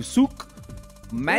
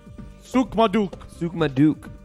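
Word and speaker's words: Souk Madiq: First of all, it was Souk Ma, like M-A, Duke. Souk Maduk. M-A-D-I-Q.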